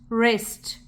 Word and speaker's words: wrist: A, st, wrist. W is silent.